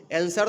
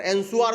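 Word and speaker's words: answer: आंसर आंसर में कहीं भी डब्ल्यू का नाम आता है। अगर एंशु आर कोई बोलेगा तब तो भाई गलत बोल देगा। उसका प्रोनंसिएशन ही गलत हो जाएगा। है ना? तो हम लोग क्या बोलते हैं? आंसर बोलते हैं। तो आंसर बोलते हैं। तो उसमें डब्लू क्या होता है? साइलेंट हो जाता है।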